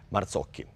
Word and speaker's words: Marzocchi: Marzocchi.